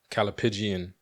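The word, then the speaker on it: callipygian: What I use to help me pronounce the word correctly is I think of pigeons. Like the way we would refer to certain women. Like the answer that I'm like, so I get that Calipigian. That's how I remember how to say the word.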